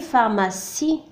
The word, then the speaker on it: pharmacie: Une pharmacie. كذلك لدينا هنا سي ينطق هنا س لأنه متبوع ب I.